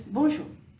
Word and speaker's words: bonjour: it looks like this the thing about French is that the last consonants are not usually pronounced I don't know why but that's just how French is I didn't make the